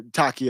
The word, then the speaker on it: Taqiyya: I'm sorry, Taqiyya is how you pronounce it.